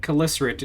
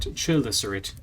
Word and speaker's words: Chelicerate: Yeah, it's pronounced Chelicerate, not Chelicerate.